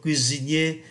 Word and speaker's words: cuisinier: Et toi, tu es toujours cuisinier. Thế còn bạn, bạn vẫn làm nghề đầu bếp phải không? Cuisinier, chúng ta phát âm S thành Z bởi vì nó đứng giữa hai nguyên âm.